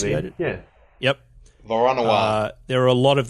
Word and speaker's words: Voronoi: How do I pronounce it? Yeah. Yep. Voronoi.